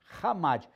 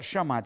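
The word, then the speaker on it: חמד: A palavra hebraica é hamad, não pronuncia chamad, escreve chamad, mas a pronúncia é hamad.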